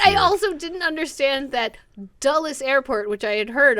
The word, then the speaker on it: Dulles: For most of my life, always thought people just said Dallas. Really weird. For some reason, the Dallas in Washington is pronounced but weird. I also didn't understand that Dulles Airport, which I had heard of, was in Washington, D.C.